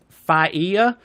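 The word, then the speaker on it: Failla: is Jimmy I'm FIA you hate to call a guy dumbass and then horribly mispronounce his name but it's f a i l l a so I'm gonna go with fa a good pronunciation don't worry about it Fox News radio host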